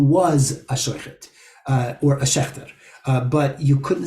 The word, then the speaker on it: Schaechter: The original pronunciations were Schechter, Schechtman, Schechterman, and Sheichet.